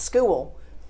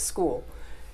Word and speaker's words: school: my mother would say school has one syllable it's not school it's school. And so we, we kind